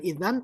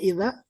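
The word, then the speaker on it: إذا: Nah, ini dibacanya bukan idan, tapi ini dibacanya idza.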